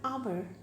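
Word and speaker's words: hour: Similarly, we have our. Our H is consonant, but we use an our. Why? Because H is silent and the sound of O is coming.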